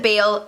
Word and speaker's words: Bailey: names are eolas and bailey my friend jill however always calls it bail and i honestly don't mind if you read it as bail instead of bailey go for it i